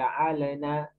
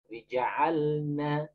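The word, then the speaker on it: جعلنا: Jangan seperti ja'alana, ja'alana, ja'alana seperti la. Ja'alna, ja'alna, harus jelas sukun.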